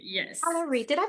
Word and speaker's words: Allaoui: my name is Allaoui. Alarie. Alaoui, yes. Alarie, did I pronounce that correctly?